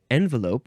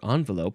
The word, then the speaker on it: envelope: to pronounce it here envelope or envelope however has been in English for nearly 300 years plenty of time for it to become completely anglicized and for both of its pronunciations to win respectability so there you go